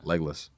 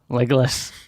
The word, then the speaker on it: Legolas: That's not the Australian way to pronounce his name, by the way. What is it? Legolas. Legolas.